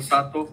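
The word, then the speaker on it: Satō: Pero entonces está bien, está correctamente dicho Sato por la uno que extiende la sílaba O de To.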